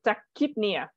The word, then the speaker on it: tachypnea: fast breathing yep so pronunciation for the CH remember what undeen said so it's pronounced as a k so take kidnia that that kid near yep so there's no so tachypnea kidney yep that's good